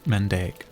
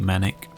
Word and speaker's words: Mandaic: No Deep Manic though. Am I saying it wrong? Deep Mandaic, not Deep Manic.